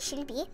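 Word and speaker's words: 실비: is, but in if you say my name in Korean, or if you like pronounce my name in Korean, it's like Shirbi, and Shir is like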